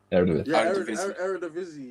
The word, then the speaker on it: Eredivisie: In the, how do you pronounce it? Eredivisie, right? Yeah, Eredivisie.